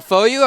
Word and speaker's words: FOU: said foul or no i think i said foo i said foo and they're like you mean foyo i'm like yeah and i want a jersey for getting that right yeah so uh anyway it is pronounced foyu apparently yeah it's kind of a strange way